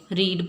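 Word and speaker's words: read: Spelling हमेशा same रहते हैं, प्रोनाउंसिएशन चेंज होती है। फर्स्ट फॉर्म में रीड बोला जाता है, सेकंड और थर्ड फॉर्म के लिए रेड बोला जाता है।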